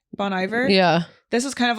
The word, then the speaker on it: Bon Iver: that artist B how do you say it Bonnie ver Bon Iver yeah this is kind of like that like